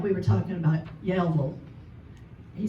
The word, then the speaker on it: Yellville: It's kind of like we were talking about Yellville. He said, how do you say it? And I said, Yellville. He said, no, it's Yellville.